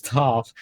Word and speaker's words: Toph: My name is Toph. It rhymes with tough.